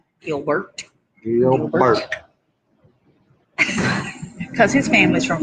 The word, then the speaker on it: Gilbert: Because that's the way we say it. We say it two big old syllables. Gil and Bert. Gilbert.